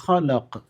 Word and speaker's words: خلق: ഇഖ്റ ബിസ്മി റബ്ബിക്കല്ലദീ ഖലഖ്. ഇഖ് ഖാഫുണ്ട് അല്ലേ, സുക്കൂനുള്ള ഖാഫാണ്, വ്യക്തമായി ഉച്ചരിക്കണം. അല്ലദീ ഖലഖ്, ഖാ ഉണ്ട്, ഖാഫുണ്ട്. അവസാനം ആയത്ത് അവസാനിക്കുന്നത് ഖാഫ് എന്ന അക്ഷരത്തിലാണ്. ഖലഖൽ ഇൻസാന മിൻ അലഖ് ഇഖ്റ